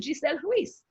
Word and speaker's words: Giselle Ruiz: My name is Giselle Ruiz. You can't pronounce that.